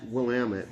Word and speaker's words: Willamette: of this, and I just think I thank Oregon and Willamette Valley for putting this on the map, to be really honest.